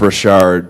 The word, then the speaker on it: Richard: Yeah, it's pronounced Richard, just FYI. It's French.